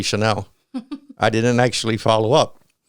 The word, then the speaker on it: Chanel: I realized that when I mentioned Chanel, and it's really Chanel, I didn't actually follow up.